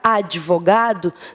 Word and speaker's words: advogado: Não façam isso queridos a palavra advogado não vem aqui ó na primeira sílaba carregada de uma letra e então não existe a de eu digo Adi Adi vô folgado como